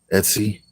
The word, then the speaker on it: Etsy: You'll find it on is it Esty? I want to say it right. Etsy, ESTY.